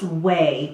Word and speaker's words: OUAI: Oh, it must be pronounced way because they say and they spell the word.